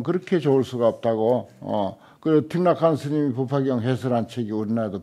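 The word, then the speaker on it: Thích Nhất Hạnh: 그리고 틱락한 스님이 법화경 해설한 책이 우리나라에도 번역됐어요. 나도 늘 그걸 의지하는데 그 월남만 하더라도 베트남만 하더라도 중국 그 한문권이잖아요. 그 한문권이야. 틱락한이 석일행이야. 한자인데 베트남 발음으로 하니까 틱락한이라. 석일행인데 스님석, 석가모니 석자라.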